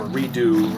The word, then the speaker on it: Redux: The X is silent because faux French. But I don't like silent letters, so I don't really have a problem with their redux pronunciation. I just say redoink.